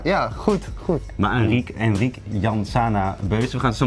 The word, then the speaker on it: Llansana: Enrique Janzana Beuze. Enrique Janzana Beuze. Ja, kijk, in Spanje spreek je dubbel L, spreek je uit als een J.